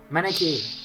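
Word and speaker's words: Manakete: Manakite, that's how you pronounce it.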